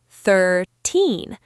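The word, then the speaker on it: thirteen: For 13, the stress is at the end. 13. The sound is long. For 30, the stress is at the beginning. 30. The sound at the end is short and sharp.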